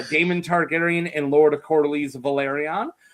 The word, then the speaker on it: Valyrian: Targaryen and Lord Cordly's Valyrian or Valarian if you want to say it correctly leading the Dordishmen into battle over the Stepstones.